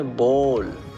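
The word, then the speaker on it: bowl: इसकी जो प्रोनाउंसिएशन है वो ज़्यादातर लोग गलत बोलते हैं ज़्यादातर हमारे देश में, इसलिए ध्यान से सुनिए। बोल, हम इसे क्या कहते हैं?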